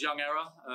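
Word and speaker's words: YVNG Error: hi guys my name's young error it's spelt YVNG and Error.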